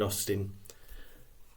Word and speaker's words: Austen: at Society at the time the society Jane Austin and her family and her readers knew I